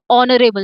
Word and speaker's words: honorable: So H is silent here. So honorable. It sounds like O. So it sounds like it's starting from O.